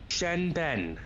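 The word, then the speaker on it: seanbhean: But anyway, the first Irish word of the week is Shen Ben, spelled like Sean Bean.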